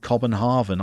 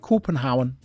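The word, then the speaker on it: København: Copenhagen corporate corporate Hound that's what the Danes call Copenhagen when we see it written in Danish we try and pronounce it cobenhaven I think they pronounce it copenhauen there we go every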